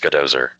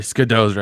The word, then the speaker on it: Skidozer: It's pronounced Skadozer. Oh, I'm sorry, Skidozer. I just called it a Ski Dozer.